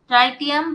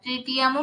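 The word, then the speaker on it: tritium: এটা হচ্ছে ট্রাইটিয়াম বা ট্রিটিয়ামও প্রোনাউন্সিয়েশন হয়, ট্রিটিয়াম।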